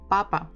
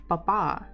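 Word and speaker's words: папа: the time wow Papa so the stress is on the first syllable Papa actually if you stress the second one it will sound Papa more like French manner so if we try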